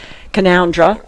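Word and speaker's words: Canowindra: Oh yeah, near our hometown of Orange, we do have a place called Canandra that everyone gets wrong cuz it's spelled Canow Windra.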